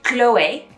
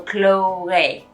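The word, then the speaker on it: Chloé: on those e's they become more of an a sound so chloe chloe or it becomes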